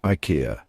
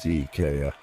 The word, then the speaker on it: IKEA: You might be tempted to say IKEA, but hold on a second, that's not quite right. The correct way to say it is IKEA. Yes, you heard that right, IKEA. That's right, it's all about those short, sharp sounds.